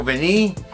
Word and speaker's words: Vanille: Tom Ford's Tobacco Vanille. I said it right, look at me. I know, I was going to say vanilla, but I said vanille.